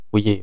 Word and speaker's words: Fourier: hukumnya itu akan dideskripsikan oleh hukum Fourier ya, Fourier bacanya.